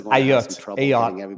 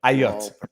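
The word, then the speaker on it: Ayotte: So going to have some, he pronounces Ayot, which is an Anglophone way of pronouncing a French name. Ayot, A-Y-O-T-T-E.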